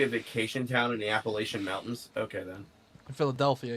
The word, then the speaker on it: Appalachia: you really be here there's a l a latch in the pronouncing of Appalachia laia okay Appalachia I was saying it or Appalachia I was saying like from Fallout my bad Chester son of